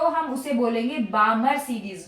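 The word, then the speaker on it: Balmer: तो हम उसे बोलेंगे बामर सीरीज वो जो पैटर्न रेज का हमें ऑब्टेंड होगा वो होगा हमारा बामर सीरीज एल साइलेंट होता बामर नहीं बोलते बामर सीरीज राइट जैसे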